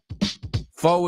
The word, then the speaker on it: foe: So, foe Foe is another way to say enemy, and I like it more because you say friend or foe. So, foe rhymes with bow but not with bow.